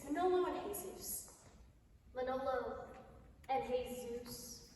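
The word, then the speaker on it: Jesús: Manolo and Jesus. You don't pronounce the J.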